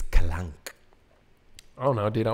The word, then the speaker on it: Kalank: No, it's like clunk. It's Kalank.